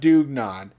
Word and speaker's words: dugnad: word in norwegian language dugnad pronounced dugnon which is a form